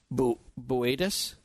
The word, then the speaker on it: Boötes: our home being Upsilon Boötes. Is that how you pronounced it? It's spelled Bootes, but it's Boötes?